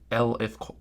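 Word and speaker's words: elif: is with something called an L if Clause pronounced e l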